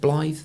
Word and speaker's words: Blythe: Is it pronounced Blythe?